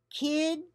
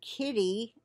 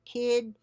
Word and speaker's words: Kidde: Kidde, I'm saying it Kidde. It's capital K-I-D-D-E. I wouldn't pronounce it any other way, but it could be Kidde. It's probably not Kitty. Okay, so we'll say Kidde.